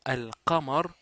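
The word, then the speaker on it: القمر: ne se prononce pas pour alar le lâ se prononce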